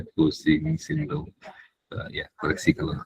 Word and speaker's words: Cushing: Ini katanya bacanya pusing tetap pusing gitu. Pusing sama orang katanya. Iya karena nama orang gitu ya ejaannya seperti itu dia bacanya kusing sindrom ee ya koreksi kalau saya salah ya.